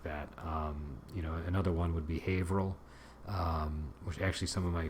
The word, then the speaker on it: Haverhill: It looks like it's pronounced Haverhill, but we're so used to pronouncing it as Haverhill that when I pointed that out to somebody in my group, they couldn't even imagine how somebody would pronounce it another way. And then when I told them Haverhill was the way people sometimes mistook it to be pronounced, this person was very surprised, because they just wouldn't have thought of pronouncing it like that.